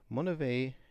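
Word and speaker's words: Monivea: the name mon uh which is spelled m o n i v EA monave is if it's translated into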